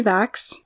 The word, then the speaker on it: Vachss: web pages so about the author Andrew Henry VAX and thankfully he has a pronunciation guide for that last name of his